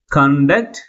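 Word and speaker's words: conduct: ని సెకండ్ syllable ముందు ఉంచాలి okay for example కండక్ట్ confirm confuse contain okay అంటే ఏదైనా ఒక పదము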